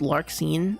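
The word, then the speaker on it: Larxene: It's It's pronounced lark scene.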